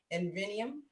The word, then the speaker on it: Inveniam: They're from, I want to make sure I pronounce this right, Inveniam. Yep, Inveniam Right.